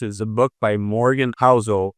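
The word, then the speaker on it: Housel: And one of my favorite books is a book by Morgan Hzo. It's called The Psychology of Money. In Morgan's last name is spelled h o u s eel.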